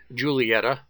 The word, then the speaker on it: Giulietta: This is another contribution from the infield parking area, an Alfa Romeo, I believe it's properly pronounced, Giulietta SS, produced between 1957 and 1962.